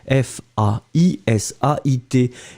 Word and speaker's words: faisait: souvenez-vous imparfait de faire c'est faisait F a i s a I t c'est bizarre on écrit faisait on prononce faisait souvenez-vous le verbe faire